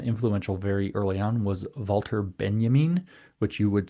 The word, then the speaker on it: Walter Benjamin: probably most uh influential very early on was wter Benjamin which you would spell as an English-speaking person Walter Benjamin but it's not pronounced that way and uh Benjamin was in